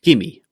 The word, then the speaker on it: gimme: Let's start with gimme. Gimme. What do you think this means? Well, gimme is a contraction of give me. Simply, we remove the v sound in give and join the 2 words together.